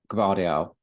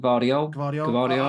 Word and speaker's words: Gvardiol: And we've got Gvardiol. How do you say it? Gvardiol? I would go. I'd say the G. Say the G with it.